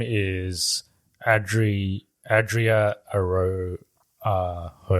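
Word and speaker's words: Arjona: name is Audrey Adria Arrow uh you know how to have like J is a h like yes yeah uh it's uh it's spelled with a J but I'm pretty sure it's a honor she's in this yeah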